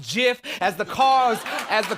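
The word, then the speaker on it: GIF: looping the sky like a jiff it's pronounced jiff as the cause as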